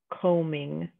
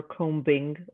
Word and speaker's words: combing: The B is a silent letter, so we say the word lamb, combing, or crumbs. We don't say lamb, or combing, or crumbs.